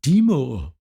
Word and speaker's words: Dimow: funniest thing was that they pronounced by name perfectly they were like Deo and they were like